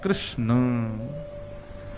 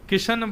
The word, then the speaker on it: कृष्ण: की प्रक्रिया शुद्ध है कई लोग कृष्णा बोलते हैं कई लोग किशन बोलते हैं कृषण बोलते हैं जाने क्या कृष्ण कन्हैया अरे नहीं है